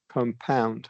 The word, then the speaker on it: compound: Number two can fall into this category if we're talking about the verb, right? Compound. Compound. Yeah. In that case, Yeah. Correct. Yeah. and and and then only stress on the second syllable.